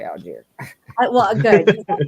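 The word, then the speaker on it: Allgeier: DS Tyler aluy Al do you guys say algy or aler how do you say that Al and the only reason I know that is cuz Atlanta cuz you know my country bumping ass can't pronounce anything but it is definitely aler well good I like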